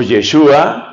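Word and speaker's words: ישוע: el cristos el ungido Cómo se dice en hebreo Jesús o yeshua así suena en hebreo yeshua mesia El Mesías El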